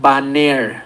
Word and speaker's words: Banair: Esta combinación todavía este tiene su patente, todavía no está liberada y su marca comercial se llama Baner, se escribe Banair.